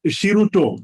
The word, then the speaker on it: Shiruto: well with an interesting name um it is shiruto did i pronounce that correctly yeah yeah you have pronouns